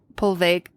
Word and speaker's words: Poveglia: Yeah, good luck pronouncing it because I wasn't even going to attempt it. No, yeah, it's Poveglia, Poveglia, Poveglia.